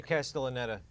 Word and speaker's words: Castellaneta: Yeah, Castellaneta. Netta. I'm sorry. I was so proud of knowing how to pronounce it.